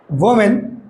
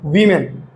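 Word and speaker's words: women: ঠিক আছে, তা দেখো, ওমেন, ঠিক আছে, মহিলারা, না উইমেন। কি? ওকে, এই যে MEN, মেন বিষয় হলে উইর মতো উচ্চারণ হয়, আর এটা এ হলে ওয়ার মতো উচ্চারণ হয়।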